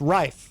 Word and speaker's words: Rife: And your last name is pronounced Rife. Rife, yeah. Rife. I do hear Reef a lot, though.